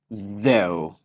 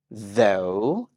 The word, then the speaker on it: though: dear let's start with the word though though and it trimes with go though go though go I